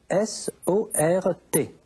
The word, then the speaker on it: sort: Ça s'écrit S-O-R-T. Ça s'écrit avec un T. Ça se prononce sort, mais ça s'écrit S-O-R-T.